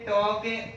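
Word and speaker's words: talk: इन शब्दों का यदि हम उच्चारण करते हैं तो उच्चारण करने के बाद में जो एल लिखा हुआ है, ये एल साइलेंट हो जाता है या फिर एल लुप्त हो जाता है।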